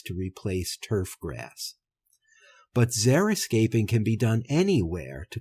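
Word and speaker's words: xeriscaping: One approach involved zeroscaping. I'd never heard this word before. It's spelled x e r i s c a p i n g.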